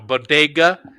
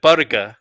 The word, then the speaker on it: bodega: she called uh uh she mispronounced bodega you know bodega is she said barga yeah something like that yeah put the accent on the first syllable instead of the second and then she uh